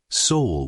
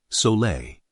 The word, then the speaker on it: Sole: It's called soul water, pronounced sole.